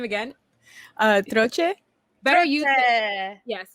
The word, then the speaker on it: Troche: Troche. Better you say it and pronounce it right than me.